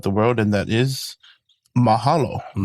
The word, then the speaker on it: mahalo: Another one that's pretty common or pretty well known throughout the world and that is mahalo.